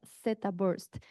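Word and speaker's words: theta: Hay otro protocolo más reciente en el 2018 que se le conoce, aunque se escriba teta se pronuncia Zabst.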